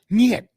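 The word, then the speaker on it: нет: Night. There it is. Is that German or Russian? No, niet. Niet. Niet. That's how you say it.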